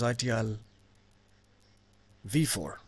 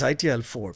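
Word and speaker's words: ITIL 4: interesting topic that is itl V4 oh did I say it right is it itlv4 no it's not it's itl4 because ITIL has dropped the V keyword so now it's idl4 not V4 so doing this topic during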